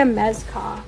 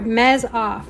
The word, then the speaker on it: Mezoff: Rebecca Mezkoff. Here, let me show you. Oh, sorry, Mez-Off. I was saying it wrong.